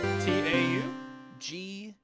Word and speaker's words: Tau: Or TAU?